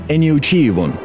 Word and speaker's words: Эниучиевон: Эниучиевон. Как будто произносят «Эй, не учи меня».